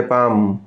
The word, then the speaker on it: palm: PALM इसमें L silent है। पाम हथेली।